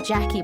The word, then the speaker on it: Jacques: writing her name down, she spelled it like Jacques, like the French Jacques, and she was just like, I just love how this looks. Like, my name is Jackie, but I spell it like this.